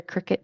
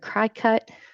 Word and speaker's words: Cricut: On the Maker series, that is the Cricut C. So it looks kind of like that bug, which is where we get our pronunciation for Cricut. I've heard Cri-cut, but it is Cricut like the bug.